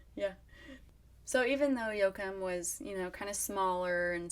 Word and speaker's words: Yoakum: Yoakum was and is considered a very rural and smaller town.